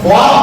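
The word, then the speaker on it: خواب: अब ख्वाब बोल रहे हैं, ख्वाहिश बोल रहे हैं, ख्वानी नज़म ख्वानी, ये वाव का साइलेंट होता है, ये मादुला है, वाव मादुला है।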